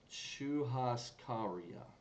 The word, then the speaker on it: churrascaria: page oh and nice they have a pronunciation for it so qu has Korea Chu Haas Korea okay so that's really how you pronounce this it's a Brazilian style